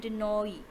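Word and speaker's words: Danaë: सबसे पहले है डेनॉ, यहाँ इसे हमने पढ़ा डेनोई। परसियस, पोलीडेक्टीज, मेडूसा, एंड्रोमीडो, ठीक है, इसे इस तरह पढ़ना है।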